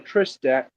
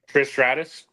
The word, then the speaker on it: Trish Stratus: And then Tiffany Stratton versus Trish Stat. Uh I can't say her name. Trish Stratus.